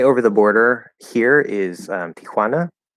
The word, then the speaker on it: Tijuana: the Border here is Tijuana or as as we Americans like to pronounce it Tijuana which sounds like yeah Juana and Juana um but I guess it would be Ant Aunt Joan in English um anyway uh yeah